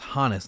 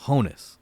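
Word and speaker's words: Honus Wagner: And notice how I'm pronouncing that first name as Hanis, not Honess. That's because it's short for Johannes, which is German, which is also why his nickname was the Flying Dutchman.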